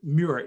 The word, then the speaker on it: Muir: to a mr muir m-u-i-r is that is that correct yes new york uh you pronounce it like you would say david muir another journalist for abc